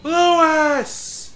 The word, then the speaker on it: Luis: I still love that Leon cannot pronounce his name worth a damn. Like, even in death, he cannot pronounce his name. Luis! It's Luis. Luis.